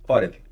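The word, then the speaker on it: עורב: um dagueixo ou não, mas a pronúncia é orav. Orev que é corvo.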